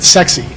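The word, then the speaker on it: CEXC: Well, there's an organization called sexy. This is really what how they pronounce it. Sexy.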